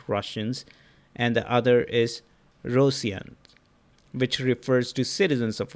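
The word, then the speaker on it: Ρωσία: The current name of the country, Rosia, come from Byzantine Greek destination of Rus, spelled Rosia, pronounced Rosia in modern Greek.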